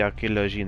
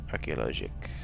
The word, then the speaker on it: Archéologique: And then this is just the 2nd century Musée Archéologie Nationale, Naples, Italia. Archéologique. I mispronounced that.